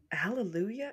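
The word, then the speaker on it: Alléluia: events oh wow okay Hallelujah yeah like Hallelujah but without the age kind of interest and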